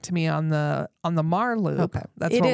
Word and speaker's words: Meagher: Real quick, I wanted to address, we said Mar because we know how to say it, but it will look like meager to you. Thank you. It's Meagher. Mar, named for Thomas Mar, who was influential in Montana's history.